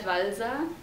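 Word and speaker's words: Walser: german again would you say his name robert valeza it's um w-a-l-s-e-r he's been translated recently in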